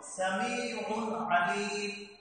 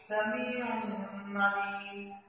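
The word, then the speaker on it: سَمِيعٌ عَلِيمٌ: সুতরাং এই তানবিনের পরে পরবর্তী আইন আসার কারণে এই শব্দটিকে আমাদেরকে স্পষ্ট করে উচ্চারণ করতে হবে, কোনো প্রকার গুণা করা যাবে না। যেমন সামিউন আলিম, এখানে যেন আমরা এইভাবে উচ্চারণ না করি সামিউন আলিম।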